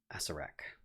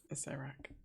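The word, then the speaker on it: Acererak: Asarak. Tobias, did I say it right? Acerak.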